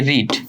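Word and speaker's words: read: form একই same তোমরা জানো ধরো এই যে রিড এটা হচ্ছে আবার ভি ওয়ান আবার হচ্ছে এই রেড ভি টু অর্থাৎ ভি ওয়ান ভি ওয়ান যখন রিড ভার্বটা ভি ওয়ানে থাকে তখন তার উচ্চারণ হয়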